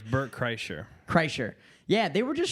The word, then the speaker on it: Kreischer: Kersher. How do you say it? I want to send it to them because they always fuck around. They're like Burnt Chrysler. It's Bert Kreischer.